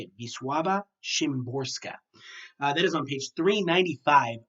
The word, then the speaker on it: Wisława Szymborska: read, or maybe are confused about Hatred by Wisława Szymborska. That is how the pronunciation guide is telling me to say it. Wisława Szymborska.